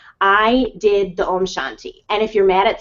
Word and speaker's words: Om Shanti: with God okay and it's Om Shanti Om Shanti Om Shanti and I'm saying this to you guys so that you know how to pronounce it and then omam there's